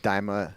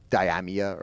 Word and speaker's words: Daima: You could not escape talk of Dragon Ball Daima, and it's pronounced Daima. Lady Emery, I love you to death, but it does hurt me when I hear Diamia, or however she was saying Diamia?